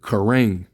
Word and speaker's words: Karen: over in East Asia, they pronounce it Karang. All right, Karen as Karang, and it means wild or a low person, a low man, or a wild person.